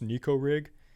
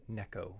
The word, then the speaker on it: Neko: like oh it's pronounced Nico rig I'm sorry my friend it's a Japanese technique and the Japanese people they pronounce it Neko so I'm going to